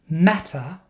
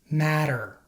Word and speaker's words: matter: result of lazy speech as a general rule when T is between two vowels it is pronounced like a fast D sound to many Spanish speakers